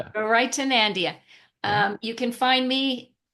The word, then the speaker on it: Garaitonandia: And just a little note, the way that you pronounce it is like you're giving directions to somebody to go to a place called Nandia instead of Narnia.